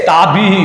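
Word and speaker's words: ताभिः: विसर्ग को क्या उच्चारण होता है? ह होता है, और विसर्ग के अंदर भी ई की मात्रा को जोड़ना है और बोलना, उच्चारण करना है। ठीक है, ताभी ही ध्यान रखना।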